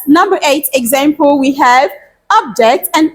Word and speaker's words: object: eight example we have object and object object objects and objects let's say this after me everyone objects okay object that's great so